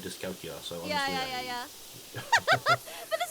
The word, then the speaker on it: dyscalculia: It's dyscalculia? Oh, there's another I. Well, there you go. I'm dyslexic. How do you say that? Dyscalculia. I think it probably is dyscalculia. Yeah. Wow, I totally missed the I.